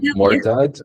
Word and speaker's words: mortgage: think coach I think Mortage Mortage right morage yeah Mortage this is how it pronounced Mortage yeah Mortage Mortage